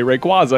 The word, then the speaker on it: Rayquaza: sound better like salemance over salamance sorry uh rayquaza that's another one i think the the official correct way is rayquaza like i'm sorry no no one says rayquaza because it's stupid you say rayquaza because it's correct because that's right yeah okay